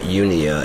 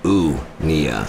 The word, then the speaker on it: unia: It's not unia. It's unia. I know it's spelled like unicorn, but it's more like u o unia.